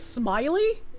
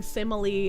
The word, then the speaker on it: simile: What the You've heard people pronounce it as smiley. I think people pronouncing simile as smiley is a good argument for eugenics.